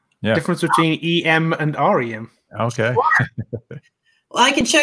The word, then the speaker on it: rem: And that's this is pronounced an M and a REM.